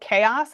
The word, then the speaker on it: Kaos: Um, yes, it's called Chaos. It's spelled K AOS.